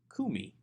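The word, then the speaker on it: קוּמִי: what about number 25 kumi noticing that the accent has actually shifted to the first syllable away from the second syllable kumi this is also a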